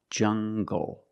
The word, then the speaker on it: jungle: Make the hard G sound, jungle. So you have the nasal sound and the hard G, jungle, go.